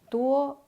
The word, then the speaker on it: 多: First up is 多. The pinyin is D-U-O, pronounced as 多. D sounds like English D. The U sounds like U in Chinese. O sounds like all.